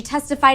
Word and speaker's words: testified: testified in this yeah notice the e d ending here in testified it's just a sound it's the d sound so there's no extra syllable it's not a vowel and a consonant it's just a consonant and that's because the